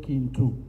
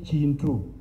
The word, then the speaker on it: Kintu: When you pronounce it as Pakiswahili accent, you say Kintu. that K in Luganda is G. You say Chintu.